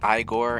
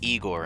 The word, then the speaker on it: Igor: got them both beat it might be pronounced Igor in other media but it's Igor and persona that's how he introduces it himself foreign remember code names